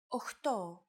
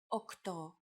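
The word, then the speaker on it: οκτώ: Sometimes, though, especially in casual conversation, Greeks also use efta instead of epta, ochto instead of okto, and enea instead of enea.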